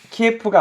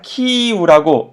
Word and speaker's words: 키이우: 키예프가 아니라고 하더라고요. 어느 순간 키예프란 말이 싹 사라지고 다 키이우라고 바뀌었죠, 그죠? 왜냐면 우크라이나 발음이 키이우래요. 키이우라고 하더라고요. 키예프는 러시아 측에서 그 도시를 부르는 이름이 키예프고, 우크라이나 사람들이 자신의 도시를 부를 때 이름은 키이우이기 때문에 지금 모든 언론들이 다 처음에는 키예프라고 부르다가 키이우로 바꿔 부르죠.